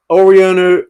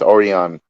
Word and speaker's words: Orion: So moving on to the first fight of the evening, we've got Oriano. Oh, damn. How would you pronounce that? I believe it's Orion.